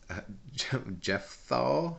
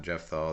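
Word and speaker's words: Jephthah: uh Polonius as Jeff Jeff thaw not Jeff though that's a word that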